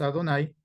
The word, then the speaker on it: Adonai: Pero que para el judío, cuando nosotros vemos esto, el Yud Bajei, pronunciamos Adonai o lo traducimos como, aquí está, como el Eterno.